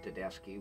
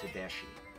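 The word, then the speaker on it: Tedeschi: few years ago susan tadeski with the dadeski trucks band and on the air before asking her i pronounced it tadeshi and at the break she quickly corrected me although they were two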